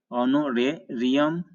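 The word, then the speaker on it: honorarium: तो एच को निकाल कर इसका उच्चारण करते हैं तो ये होगा आवर, साइलेंट मतलब नहीं पढ़ते हैं। ये होगा ऑनर, ये होगा एयर, ये होगा ऑनोरेरियम, ये होगा एयरिस, एयर का ही स्त्रीलिंग है, इसका फेमिनिन जेंडर है।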